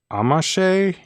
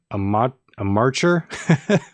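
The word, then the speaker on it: Amacher: A composer who really spent a lot of time with this is named Marianne Amache, or maybe in my accent, Marianne Amarcher. Her last name is spelled Amarcher.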